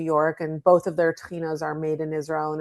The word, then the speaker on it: tahina: And, it rhymes with Adeena, so it flows easily off of my tongue. There are several Israeli brands of tahina.